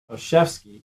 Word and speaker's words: Olszewski: that rob's last name oshevsky is like an old chef on ski that's how you pronounce his name olszewski but that's not